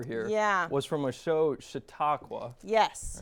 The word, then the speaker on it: Chautauqua: Now, the clip that we played right before here was from a show, Chautauqua. Yes. Right? Am I pronouncing that right? Chautauqua.